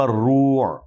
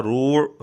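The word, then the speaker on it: الرَّوْع: فَلَمَّا ذَهَبَ عَنْ إِبْرَاهِيمَ الرُّوعُ، لفظ ہے عن ابراہیم الروع، را پر زبر ہے لیکن مرزے نے اس کو پڑھا روع، را پر پیش پڑھا۔ خیر مرزا اپنے شاگردوں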